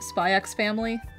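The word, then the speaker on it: Spy × Family: because I don't know if the X is pronounced. Spy X Family?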